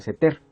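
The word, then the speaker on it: סתר: nos damos cuenta que la palabra abrigo en hebreo se pronuncia seter.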